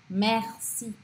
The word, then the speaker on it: merci: E aí, quando uma palavra tem ER no meio da palavra, não no final, mas no meio da palavra, eu abro o som desse E e eu pronuncio o R. Então fica R, merci, merci, mercredi, tá?